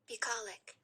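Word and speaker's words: bucolic: Let's get a pronunciation for everyone at home. One more time. Pollic.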